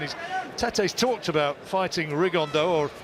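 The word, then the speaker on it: Rigondeaux: tattos talked about fighting rig on though or as he's correctly pronounced with the Spanish accent rig on Dao Chu absolute geniuses but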